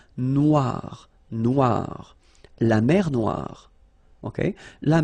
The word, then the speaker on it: noire: Final not pronounced, okay? And then OI, remember, wa, noir, noir.